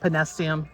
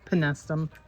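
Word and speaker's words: Penstemon: Penestum. Not penestium, penestum.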